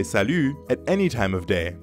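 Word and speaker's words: salut: morning or evening ends with the french sound yeah that's very french we to make this sound salu say ee but pucker your lips repeat after me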